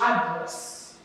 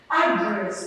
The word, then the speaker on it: address: This one is address. Even the pronunciations are different. Address. This one is address.